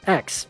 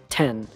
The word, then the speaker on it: X: Mega Man and yeah it's pronounced X not 10 but it sure confused